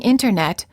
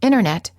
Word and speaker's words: internet: The T after an N or an N sound is often silent. Instead of saying internet, you will frequently hear Americans say internet. This is fairly standard speech, and it's not considered overly casual or sloppy speech.